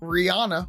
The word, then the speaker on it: Rihanna: Rihanna or Rihanna because her actual name we should be pronouncing it Rihanna so anybody and listeners out there if you are pronouncing uh Rihanna's name Rihanna it is rihan and her team actually confirmed that that's how you should be saying it so I didn't